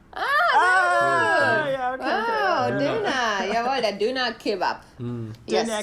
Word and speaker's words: Döner: It is the famous, let's see if I can pronounce this right with the umlaut, Döner. Yeah, okay. Döner.